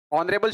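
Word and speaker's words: honourable: एन ऑनरेबल मैन, यहां ऑनरेबल शब्द में एच साइलेंट है और साइलेंट होने से इसका जब इसको उच्चारित करते हैं तो वोवेल साउंड आती है, इसलिए एन ऑनरेबल।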